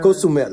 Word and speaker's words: Cozumel: No, Cozumel.